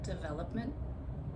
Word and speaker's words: development: So I didn't change the original stress of develop develop. So as you can hear develop I stress the second syllable and when I say development same thing stress the second syllable development.